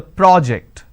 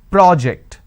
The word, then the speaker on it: project: the first one so when i'm stressing on the first syllable it becomes a noun that means please submit the project i say project this is project here i say please project the presentation here i say please